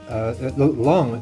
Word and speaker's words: Long: That's Long. It sounds like a kind of Vietnamese pronunciation of Long.